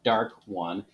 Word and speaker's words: DARC-1: This is an Estes model, the DARC-1, which I assume is probably supposed to be pronounced dark, so dark 1.